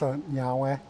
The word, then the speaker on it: Niue: It's actually pronounced Niue.